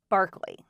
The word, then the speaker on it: Berkeley: Yes, it looks like its spelled “Berklee”, but it's pronounced “Barkley”.